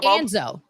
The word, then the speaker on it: ANZO: Anzo. So so it's AOSH Anzo. That's how it's spelled.